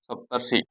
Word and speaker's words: सप्तर्षि: सप्तर्षि उच्चारण होगा सप्तर्षि, यानी जो है वो रेफ है ऊपर चढ़ जाएगी। ये जो र है वो ऊपर चढ़ गया।